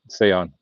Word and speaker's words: Seon: It's spelt with an E, not an A, but it's pronounced exactly how you wrote it. Seon.